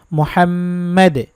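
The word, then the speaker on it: محمد: জায়গায় এই এভাবে একটু কাটার মতো দেওয়া থাকে উচ্চারণ হবে মুহাম্মাদ একসাথে পড়ে শোনাচ্ছি আল্লাহুম্মা সাল্লি ওয়াসাল্লিম আলা নবীনা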